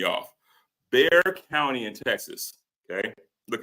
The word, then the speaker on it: Bexar: Everybody tells me it's Bexar County. That X throws me off. Bexar County in Texas.